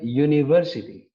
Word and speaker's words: university: Contoh, a university. University diawali dengan U kan, U itu adalah vokal. Tapi karena pronounce-nya seperti konsonan, maka yang digunakan adalah e, menjadi a university.